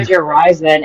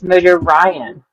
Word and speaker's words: Mojo Ryan: not Mojo Ryzen, it's Mojo Ryan.